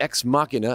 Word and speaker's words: Ex Machina: to talk to you about the ex machina and yes that's how you pronounce it studio monitors so